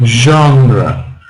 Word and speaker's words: genre: What about genre? Genre. Which syllable is stressed? Genre. So first syllable.